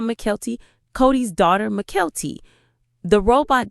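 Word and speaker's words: Mykelti: I said Michael T, not Mckelty.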